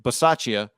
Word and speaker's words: Bisaccia: You got it right. That's how you say it. I thought it was B. Is it Ba? B? Bisaccia? Bisaccia? I'm just nitpicking. Yeah. It's definitely the Saccia with the B.